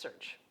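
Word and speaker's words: SEARHC: it's a big word the consortium is called search SC AR HC and pronounced search our clinic in Haines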